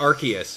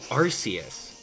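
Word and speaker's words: Arceus: protective of pronunciations like like archus for example uh you know people I got into a heated argument with a little kid he's like hey abdalah it's arus I'm like yeah it was arus but then they changed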